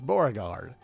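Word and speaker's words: Beauregard: bow and if you if you said bow spelled Bo o you still get it right if you spelled it b e Au U you also get it right so b b however you spell it but it's borgard that's from season 4 episode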